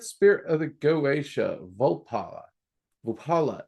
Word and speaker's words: Vapula: Vupala is usually how I pronounce it. Vala or Vapala. Um, v a p u l a.